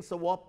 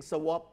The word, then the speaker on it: swap: ด้วยbarter นี่ก็คือของแลกของเหมือนเราจะซื้อน้ำมันเราอาจจะเอาข้าวไปแลกซื้อเครื่องบินเอาข้าวไปแลกซื้ออาวุธยุทโธปกรณ์เอาข้าวไปแลกเอายางที่ขายที่ราคาตกต่ำไปแลกอะไรเงี้ยเราทำเช่นนั้นได้และ swap ก็ออกข้อสอบมามีความหมายว่าแลกด้วยเช่นเดียวกันคำพวกนี้ทอฟโฟออกแล้วทั้งนั้นพูดถึงคำว่า swap นี่คนไทยบางคนไปอ่านว่า swap swap คนอังกฤษก็ออกเสียง swap คนอเมริกันก็ออกเสียง swap มันจะออกเสียง swap ไม่ได้เพราะว่า swap เนี่ยสะกดได้อีกอย่างหนึ่งคือ swap นี่จะสะกดอย่างนี้ก็ได้หรือบางครั้งนานๆทีก็อาจจะเจอคนบางคนสะกดด้วย OP